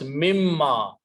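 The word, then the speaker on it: مِمَّا: So when you combine them together, this noon is pronounced as a mim. So it becomes mimma.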